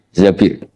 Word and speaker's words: Zabir: Zabir di hadis ini bukan bacanya bukan Zubair tapi Zabir Abdurrahman bin Zabir tapi